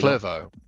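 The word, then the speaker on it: Clervaux: to put the power down out of uh clevo. Am I pronouncing that correctly? Probably clevo.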